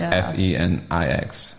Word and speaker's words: Phoenix: It's Phoenix. It's like Fenix.